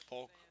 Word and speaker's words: Polk: Fun fact about Chris Polk, number two, his last name is one syllable.